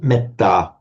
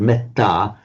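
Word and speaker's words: mettā: So a Sanskrit speaker looking at the Pali word metta would pronounce it as metta, metta.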